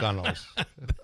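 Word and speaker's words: gunwale: Well, he's given the British the British pronunciation. So oldtimers. Yes, you shorten those things up. But fold the gunnels.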